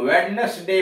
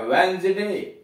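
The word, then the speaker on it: Wednesday: और जो हम वेडनेसडे पढ़ रहे थे वह क्या है, वेंसडे।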